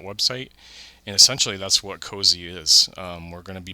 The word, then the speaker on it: COAZEH: So essentially, it's I'm pronouncing it COAZEH, as you've heard.